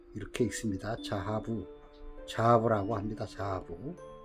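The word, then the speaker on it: זהב: 금이라는 히브리어는 자하부, 이렇게 읽습니다. 자하부라고 합니다. 자하부, 발음을 자하부 이렇게 읽는데요.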